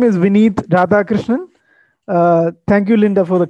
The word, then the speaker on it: Vineeth Radhakrishnan: My name is Vineeth Radhakrishnan.